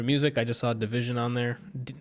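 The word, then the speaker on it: dvsn: I just saw a division on there I think I said pronounces DV s n its division I've heard some of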